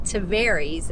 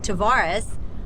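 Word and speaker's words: Tavares: left uh Fisherman's Cove today which is in taries as we've learned to pronounce it since we were incorrectly saying it tarus uh but years for years for yeah actually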